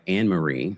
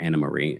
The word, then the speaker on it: Anne-Marie: Former NFL star Marcellus Wiley allegedly got physical with his wife, Anne-Marie, or Anna-Marie, as she says it's pronounced, before his DV arrest on July 4th weekend.